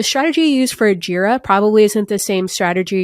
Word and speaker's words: Jira: okay let's start with jira's um yeah jira rhymes with era that was like my